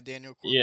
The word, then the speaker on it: Daniel Cormier: Yeah, Daniel Cormier.